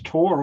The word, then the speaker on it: Tor: that's okay good evening my name is tor I have the Germanic pronunciation instead of the Norwegian I live in the